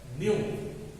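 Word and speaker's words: nu: इसको सिंबॉलिक रूप से छात्रों ग्रीक वर्ड है, इसका प्रोनाउंसिएशन है न्यू, इसका उच्चारण प्रोनाउंसिएशन न्यू होता है।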